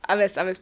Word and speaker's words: Aves: Talking about your dad, Avasio Pereira, if I pronounced it right. Yes, Aves Pereira. Avasio is in the passport.